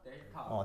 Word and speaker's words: 델타: 그래서 삼각형이라고 쓰는데 읽을 때는 뭐라고 읽는다? 델타. 델타라고 읽습니다.